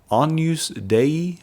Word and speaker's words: Agnus Dei: an upcoming song church this is anu's day i think is how you say it a-g-n-u-s-d-e-i the words are